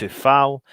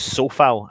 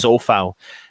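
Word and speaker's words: Coufal: 4-4-2 creswell dawson d-ops souffal sorry i should say it's so foul and i need to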